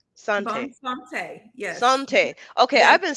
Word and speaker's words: Bonne Santé: to be penetration that's good to know um bone Sante Sante bone Sante yes Sante okay I've been saying it wrong